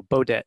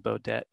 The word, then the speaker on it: Beaudet: easiest way is to think about those old motel 6 commercials so beaudet yeah hi everyone my name is beaudet yeah apologies for the strange pronunciation for for some folks anyways um let's see